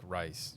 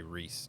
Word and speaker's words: Rhys: Well, like when I saw Rhys how it's spelled I'm like rice rise. Like it doesn't say Rhys to me.